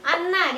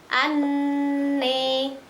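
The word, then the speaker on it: أَنَّى: Anna dibaca anne.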